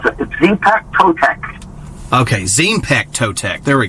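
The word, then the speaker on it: Xipe Totec: And then the next one, I'm going to try to pronounce this best I can. Track 6, Zype Totek. Yeah, it's Zepek Totek.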